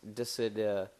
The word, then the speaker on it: Dissidia: It's Diss, Dissidia, but it's Dissidia.